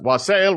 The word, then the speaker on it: wassail: So it was like, I think it's one of those ones that can go either direction. Yeah, you can pronounce it however you want. Wassail. And actually, yeah, I'm looking out in the dictionary. Thank you, Oxford Dictionary. Both of those pronunciations are acceptable.